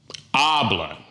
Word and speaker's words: hablan: Well, in this case, it ends in an N, so the stress falls on what? The second to the last syllable. Hablan. Not hablan, it's hablan.